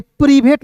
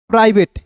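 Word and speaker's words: private: आई वी ए टी ई तो यह देखिए प्रीवेट नहीं पड़ेंगे इससे बहुत लोग प्रीभेद पढ़ लेते हैं देखिए पी आर आई को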